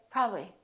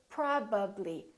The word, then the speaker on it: probably: My lips have to open and close 3 times. So don't take any shortcuts. Don't say probably, probably. Say probably. Fully move your lips and fully pronounce each sound.